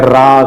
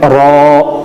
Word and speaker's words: را: وہ را اس کو موٹی آواز میں پڑھنا ہوتا ہے تو اس کو نارمل انداز میں پڑھتے ہیں را کر کے, تو یہ جو ہے غلط ہوگا. صحیح تلفظ ہے را.